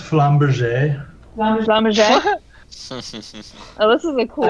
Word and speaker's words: flamberge: i was thinking of it's pronounced flamberge oh this is a